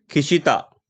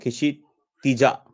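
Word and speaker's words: क्षितिजा: खिशिता, सही बोला मैंने? No, खिशितिजा, खिश्तिजा, खिश्तिजा is a right pronunciation, right?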